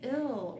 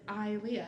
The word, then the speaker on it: Ilea: an I like Ilea, if you just have I-L, people might say ill or, something like that. Oh. So I was like, EI or AI, how do we get someone to pronounce it Ilea?